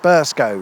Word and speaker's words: Burscough: I've done my research this time, however, and whilst it's spelled like this, it's pronounced Burscough, which is still probably wrong.